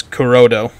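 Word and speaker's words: クロード: one less R correctly Claude in Japanese is kurodo it's spelled k-u-r-o-d-o uh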